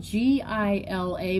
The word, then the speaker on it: Gila: You see it's spelled G-I-L-A, but it's pronounced Gila. The G sounds like an H.